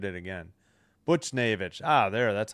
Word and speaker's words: Buchnevich: N Naevich Buchnevich uh yeah. Sorry. Lafleur takes the puck. I bl- uh Butch- butchered it again. Buchnevich.